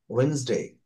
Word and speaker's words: Wednesday: Tuesday, Wednesday, এখানে ডিটা খুবই হালকা করে, very lightly you can pronounce Wednesday, Wednesday. So Wednesday, Thursday, Friday, Saturday.